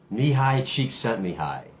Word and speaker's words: Csikszentmihalyi: I think his name is pronounced Mihai Csikszentmihalyi, the master of flow.